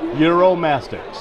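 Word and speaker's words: Uromastyx: how to say it eurom mastics eurom mastics and think like Europe and sticks with a ma in the end eurom mastics eurom mastics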